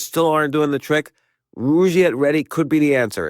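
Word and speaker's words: Rugiet: And Rouette is spelled R U G, like rug and Iet T.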